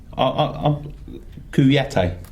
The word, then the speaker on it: Kouyaté: Kouyaté. I'm going to say it properly. You said it right, yeah. Max abuse, yeah. Kouyaté, because I've been getting dogs abuse on the we do. Cockney, Kyoto, yeah.